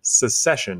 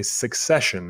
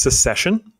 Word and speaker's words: secession: That word is pronounced secession. It's right there. Even though I've heard people say succession, and that's not how you pronounce that word. So it is secession.